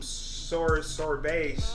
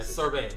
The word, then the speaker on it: sorbet: I see him, doing some sorbet. That's how you say it. Yeah, sorbet. Sorbet. Sorbet. Sorbet. 2 syllables. Sorbet.